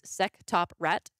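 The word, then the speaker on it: SectopRAT: for nordvpn leads to I prefer to pronounce this say secto Prat but it is seop rat uh so there's a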